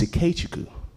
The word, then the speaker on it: Ikechukwu: And he goes, it's Ikechukwu.